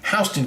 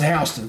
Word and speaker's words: Houston: years ago in the 90s and that is hon County make sure you know that it looks like Houston they pronounced hon so just want so you know uh let's